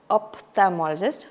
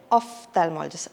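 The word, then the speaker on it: ophthalmologist: it's the IE specialist we don't say say opthalmologist we say opthalmologist as I mentioned earlier pH is a f sound okay so it is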